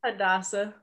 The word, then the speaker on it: Hadassah: How do you pronounce it? Hadassah.